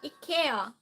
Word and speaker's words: IKEA: Swedish, Ikea.